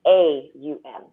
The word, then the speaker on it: Om: general I mean so most people think ohm is om now it's actually spoken as what's phonetically a um and when you're singing